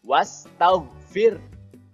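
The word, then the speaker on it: واستغفر: jadi harus ditahan dulu kemudian wastaghfir disitu ada tanda Alif setelah harokat fathah tapi tidak perlu dibaca panjang jadi huruf wa-nya langsung masuk ke huruf Sin wash kemudian tau disitu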